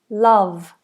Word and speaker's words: love: So think of a very forwardplaced sound. Love. Love. Okay. And don't stick the tongue out either. Sometimes people go love. But we don't want the tongue out. The tongue's inside. Ll v.